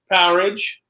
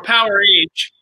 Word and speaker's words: Powerage: What's the correct pronunciation? I always call it Powerage. I think it is Powerage. Yeah, most people call it Powerage. I think the band has called it Powerage when they talk about it.